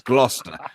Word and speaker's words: Gloucester: So First of all, mate, it's Gloucester. why I got so many letters then? It's not pronounced Gloucester, right? It doesn't even have a fucking H next to the C. It's Gloucester. You motherfuckers have a Gloucester in America, right? And you pronounce it like it as well.